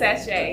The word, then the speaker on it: Sashe: Yes, Sashe, yes.